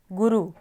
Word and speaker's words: गुरु: तो छोटे ऊ आएगा गुरु अब गुरु में र के पेट में हमने र की र के पेट में जो उ की साउंड को बोला वो जल्दी से बोला तो इसलिए हम र के पेट में छोटा ऊ लगाएंगे तो ये बड़ा ऊ